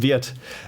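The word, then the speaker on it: Wirth: yes it's if you if you pronounce german it's not worth but it's niklaus weird and i think there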